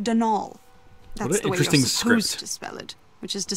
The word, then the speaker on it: Donal: caretaker daniel delaney donald mind you there's no d at the end so it's pronounced denal which is to say